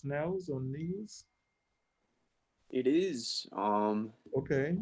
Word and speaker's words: Nels: Nels, is that how you pronounce it? N-E-L-S, Nels or Nels?